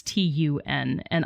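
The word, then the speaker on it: Túna: on the page but originally it was just toon it was t-u-n and i don't know why he added the a on the end and went with it but tuna that's what the man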